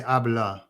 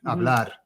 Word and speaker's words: hablar: because with our word, if we pronounced hablar in English, we would say hablar, because we do any R word at the end. Yeah. Mm-hmm. And so you've got to be careful with that. You've got to give it welly, hablar, yeah.